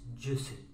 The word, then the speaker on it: Jussie: It's Jussie. As far as I'm concerned, his name is Jackass. Jackass isn't spelled with an S.